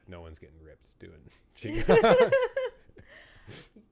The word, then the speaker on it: Qigong: It's Qigong.